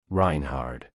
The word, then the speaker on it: Reinhard: Reinhard. Please spell that name.